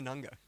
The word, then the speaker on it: Nganga: Nganga, Head of Community and Ecosystems for CC Hub. So how far off was that? What's a better pronunciation? Nganga. Nanga. Okay, that's perfect.